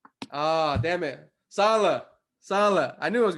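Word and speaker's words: Saleh: signing their heck new head coach robert robert sally who came from the story did i say it right ah damn it salah salah i knew i was gonna screw it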